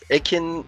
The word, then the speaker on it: Ekin: It's Ekin, like Evan, with a K.